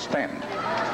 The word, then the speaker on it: Staunton: It's spelled Staunton, and I've been guilty of calling it Staunton, but it's Stanton.